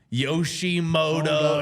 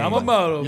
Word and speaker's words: Yamamoto: Like they were hot the entire time, of course, until they had to meet freaking Yoshi Moto. I don't even know how to say his name. Yamamoto.